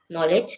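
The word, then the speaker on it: knowledge: नो के एन ओ डब्ल्यू नो नॉलेज के एन O double L ई डी जी ई नॉलेज नो नॉलेज। इसमें के silent है।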